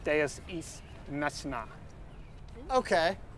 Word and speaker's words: machina: No, it's pronounced deus ex machina. Okay, it's pronounced deus ex machina. Machina.